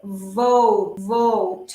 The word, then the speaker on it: vote: Siempre prestemos atención a la B corta en inglés que tiene sonido fuerte. Vote, vote. ¿Sí? Aquí arriba, events, events. Que como nosotros pronunciamos la B corta igual que la B larga, nos cuesta incorporar ese sonido, ¿sí?